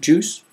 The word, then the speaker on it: juice: And here's some funny ones, fruit and juice, fruit juice, both of them spelled U-I, but it's just a regular long O sound, or long U sound, fruit, juice.